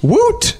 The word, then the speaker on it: woot: On another note here, this week's Thought Cop's word of the week is woot. Woot. That's spelled W00T.